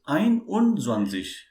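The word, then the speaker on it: einundzwanzig: we pronounce 21 right but in german if you call it as it will be ein zwanzes it will be first one and then 20.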